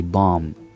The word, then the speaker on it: bomb: It's a thing in English to not pronounce the B after the M. That's why you say bomb.